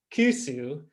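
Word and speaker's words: クース: of kanji and but the pronunciation in okinawa is kusu and so kusu just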